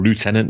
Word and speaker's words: lieutenant: I'm going to have to agree with the Americans now on the pronunciation there, though. Oh, it makes no sense saying lieutenant because there's no F in it. It's from the French original sort of thing, but yeah.